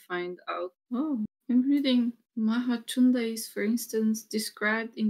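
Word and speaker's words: Mahācunda: that everyone was reading Kunda, but his name was Mahachunda as well. The letter C is always pronounced Cha. Cha. CH, the H doesn't add as it does in English, the CH sound.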